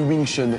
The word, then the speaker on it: Wing Chun: Wing Chun. Bonne prononciation.